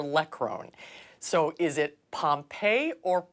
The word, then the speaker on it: Pompey: roan so is it Pompeii or pumpy how do you say your last name I say Pompeii but I've I'm so accustomed to hearing it both ways that I don't even